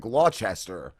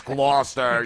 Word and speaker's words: Gloucester: That's like when I moved out west, and there was a town called Gloucester, and the way it's spelled, I said Gloucester. Right. And they were like, no, it's Gloucester, you idiots.